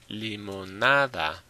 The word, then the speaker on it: limonada: So yes, like I said, if it ends in a vowel, it's on the next to last syllable. Nada. Same thing with limonada.